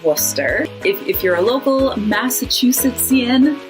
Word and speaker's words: Worcester: A lot of letters in there, just kind of suggestions. And then similar to Worcester is Gloucester and Leicester. They both have that CES combination that Wooster does that you kind of just smoosh all together.